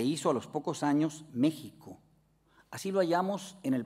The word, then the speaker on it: México: famosa México el asiento pero no se decía México se decía México la x representaba ese sonido doble de la sh los españoles convirtieron voces